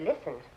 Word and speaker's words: listen: we say the words the T in the word listen is a silent letter so are the K